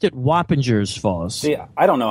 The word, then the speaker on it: Wappinger Falls: from Montreal but it's Wappinger Falls see I always pronounced it Whoppers Falls see I don't know how to pronounce it yeah I I pronounced the G with a J sound but uh really uh